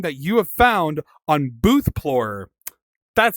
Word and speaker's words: BOOTHPLORER: your favorite thing that you have found on BOOTHPLORER?